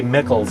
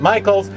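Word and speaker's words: Mikels: I know people say Michels sometimes in the horror world because it's spelled m i k LS but I'm pretty sure he actually pronounces it Michaels just like the arts and crafts store but it's not spelled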